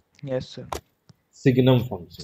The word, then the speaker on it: signum: सिग्नम function. सिग्नल। सिग्नल नहीं, यस सर। सिग्नम, सिग्नम, हाँ। SIGNUM, इसकी जो सिग्नम स्पेलिंग होती फंक्शन।